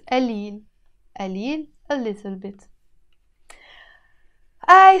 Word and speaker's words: قليل: قليل in standard Arabic pronounced. But in Lebanese Arabic, we pronounce it قليل.